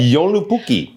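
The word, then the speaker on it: Joulupukki: But in Finnish he is called Yoluki. Okay. So that's a fun name again. Can you say Yoluki? Right. That's the pronunciation.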